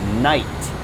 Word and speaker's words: knight: All right, next we have night. Now, this is not nighttime, like, oh, day is finished. Exit. It's nighttime. No, if there's a K here, this is like the